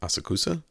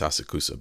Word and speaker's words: Asakusa: sauna land in ASA asakusa asusa I don't look phonetically it's asakusa but they say it differently anyway uh so is